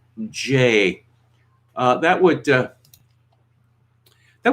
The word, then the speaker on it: Jeh: family friend again now it's supposed to be pronounced j why not simply name your son j and then if you know it comes up you can say well actually we named it for this fellow who spells his name jeh but is pronounced j you can imagine going through your life when people you know call you jack it's not ja it's jay i mean you know